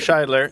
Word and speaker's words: Scheidler: No, but for Michael, it's Scheidler. There's a pronunciation key here.